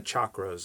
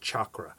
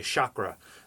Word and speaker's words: chakra: So you really have to understand the chakras, and it's pronounced chakra. And often people will say chakra, but proper Sanskrit pronunciation is chakra.